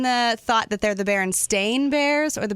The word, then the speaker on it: Berenstain: Now, are you in the thought that they're the Berenstain Bears or the Berenstein Bears? I always say Berenstain because that's the way it's spelled. It's spelled AIN.